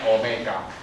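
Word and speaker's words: Ω: 对，念 Omega，好不好？Omega，这个 Omega 代表什么呢？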